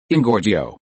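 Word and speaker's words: Engorgio: The spell of the expansion spell is ingorgio. This is a spell originated from Latin and the whole is divided into three syllables. N gore gio is emphasized on the second syllable gore.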